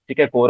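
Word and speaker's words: corps: uh you can say the way you pronounce it is core so core Commander is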